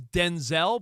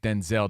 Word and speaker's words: Denzel: He prefers Denzel, but he goes, his family, his mom and grandma would yell at him when he was a little boy, and Denzel. Well, because his dad was Denzel, but then he went with Denzel just to mix smoother.